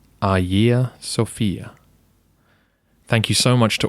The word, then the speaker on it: Hagia Sophia: not in modern Greek the pronunciation should be AA Sophia thank you so much